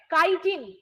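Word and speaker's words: chitin: দেখতে পাই মনে থাকবে কাইটিন কাইটিন যারা বলেছিলে ইংলিশ বানানটা এইটা হয় সি এইচ আই টি আই এন এটাকে কেউ চিটিন বলবে না এটাকে কাইটিন বলবে চিটিন উচ্চারণ হয় না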